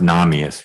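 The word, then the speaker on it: Nahmias: that quote okay um it's n-a-h-m-i-a-s and it's justice if i said judge i apologize you said justice okay and it's pronounced namius because you'll be arguing in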